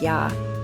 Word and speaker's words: ja: And for yes and no, it's ja, pronounced like ya, and nej, which is like nay.